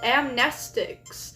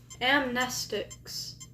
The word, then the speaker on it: amnestics: It's pronounced Amnestics. Thank you. I I may forget that, but thank you. That's super nice. Amnestics.